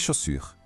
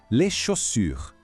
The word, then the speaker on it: chaussures: Fica les chaussures. O finalzinho é um pouco desafiador, com aquele U de biquinho de novo.